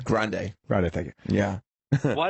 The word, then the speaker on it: Grande: Grande.